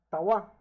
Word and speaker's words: trois: Trois. Trois. Again, the S is not pronounced, and the O and I is pronounced as wa.